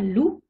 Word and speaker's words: loup: le Z par exemple un loup le P ne se prononce pas il y a des